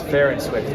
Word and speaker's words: Farr and Swit: Now, did I say it right? Farr and Swit, Farr and Swit? However you want to pronounce it, the secret way is Farr and Swit.